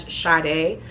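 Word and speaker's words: Shade': So if y'all don't know, my name is actually spelled S-H-A-D-E apostrophe over the E, but it is still pronounced as Sade.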